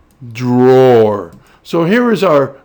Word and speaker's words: Dror: We already know the roar part, so we're going to focus on this first syllable, D, in Dror.